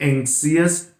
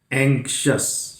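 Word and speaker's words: anxious: ये I का pronunciation नहीं होता और इसका प्रोनाउंसिएशन सिर्फ होता अस, यानी वो भी इसमें जुड़ेगा। तो ये जैसे this is नॉट एंक्सियस, एंक्शस, शस, शस, एंक्शस, कॉशस, कॉन्शियस, नॉट कॉन्सियस।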